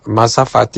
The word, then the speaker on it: mazafati: Mazafati is spelled m a z a f a t i.